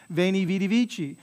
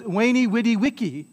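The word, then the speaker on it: veni vidi vici: i saw i conquered veni vitivici well that's the church pronunciation the ecclesiastical pronunciation of that a classical latinist would say that what he said was wayney witty wiki right that's the classical pronunciation of latin right which sounds funny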